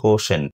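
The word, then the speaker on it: quotient: এর উচ্চারণ হবে কোশেন্ট।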